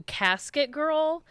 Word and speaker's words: casquette girl: But have you guys ever heard of a casquette girl? No. Okay. I don't think so. Apparently, so it's spelled like Casquette, but it was kind of changed to casket girl.